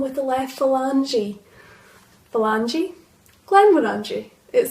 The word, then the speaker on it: Glenmorangie: Now there is quite a bit of debate over how to say this whisky's name. Is it Glenmorangie or Glenmorangie? I say Glenmorangie, and the reason why is because I think Glenmorangie sounds almost American.